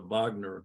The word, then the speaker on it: Wagner: For example, there's this guy who's the head of the Wagner group. I'm pronouncing it like it's German.